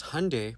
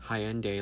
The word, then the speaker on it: Hyundai: our people because Hyundai, pronounced like Sunday, not Hyendai like you're saying, is a Korean company.